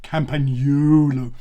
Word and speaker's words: Campagnolo: as in camera, then think of it as pag as in Paganini, the great violinist, and then think of no as in no one, and then lo as in lo-fi, the opposite of hi-fi. Put those together, those 8 syllables, and you get Campagnolo.